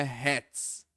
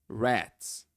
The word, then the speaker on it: rats: É o som do R retroflexo.